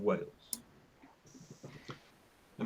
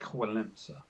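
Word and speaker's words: Wałęsa: But just ask San about Lech Walesa. Yeah. Because there's no N in Walesa, but you say it.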